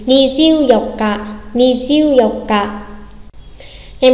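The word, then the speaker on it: 二十四日: Ngày 24 có phải là ni jiu yong nichi không? Vừa mới học xong phải là gì nhỉ? Ni jiu yok ka, ni jiu yok ka.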